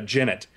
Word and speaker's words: jennet: Uh so so this is this is quite quite surprising and I guess it's pronounced jennet. Uh, and not Guinet, like I said, a Jennet.